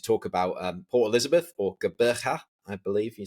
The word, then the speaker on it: Gqeberha: Well, I'm not South African, but it should be Gqeberha. Yeah. Thank you. Gqeberha, you need that click. Gqeberha.